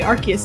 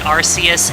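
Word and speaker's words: Arceus: fact I think all three of us say archus differently yeah which is just fun so the the like the reveal trailer said archus but I always said arus before that and Ryan Reynolds pronounces it rcus in the detective Pikachu movie obviously a definitive source of Truth a true expert yes the official Pokemon guide calls it archus but I disagree so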